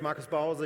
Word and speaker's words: Markus Bause: My name is Marcus Bowser.